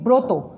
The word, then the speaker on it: ব্রত: যেমন দেখো, ব্রত লিখছি উচ্চারণ করছি ব্রত, গ্রহ গ্রহ, প্রতিভা উচ্চারণ হচ্ছে প্রতিভা একটা ওকার দিয়ে, প্রভাত প্রভাত প্রভাত যেটা